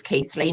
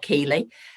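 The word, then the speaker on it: Keighley: keithley near bradford and nobody can pronounce it it's keithley not keeley and and we concentrate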